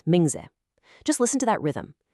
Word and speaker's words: 名字: See, in Shinma and Mingzi, those last syllables, me and zi, they're totally unstressed. They're quick, they're light. It isn't shenmei, it's shenma. It's not mingzai, it's mingze.